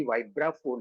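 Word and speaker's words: vibraphone: उसका स्पेलिंग भले ही वाइब्रा फोन है लेकिन बोला जाता है वाइब्रोफोन ये भी जाना उसका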